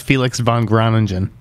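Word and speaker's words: Felix van Groeningen: I thought it was Felix von Groningen.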